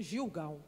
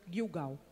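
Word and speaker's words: Gilgal: A gente lê Gilgau, mas a pronúncia Guilgau, que era um acampamento.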